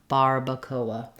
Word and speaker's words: barbacoa: is just fairly straightforward in English when we have an R we use the American R like bar Barbacoa so we would have